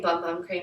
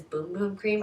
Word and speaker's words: Boom Boom Cream: I keep saying Bum Bum Cream, but I know that the correct way to say it is Boom Boom Cream.